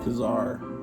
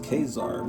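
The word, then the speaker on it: Ka-Zar: issue this is with Kazar which apparently is pronounced kesar because everybody's saying I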